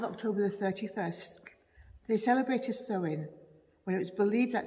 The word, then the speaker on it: Samhain: Halloween's origins date back to the ancient Celtic festival of Samhain, which is spelt S-A-M-H-A-I-N, but I'm assured it's pronounced Samhain.